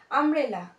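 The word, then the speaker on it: umbrella: ইউ ইউ হচ্ছে না এখানে ইউ এর উচ্চারণটা ইউ হচ্ছে না আ হচ্ছে আমব্রেলা সেজন্য এটা আগে আমব্রেলা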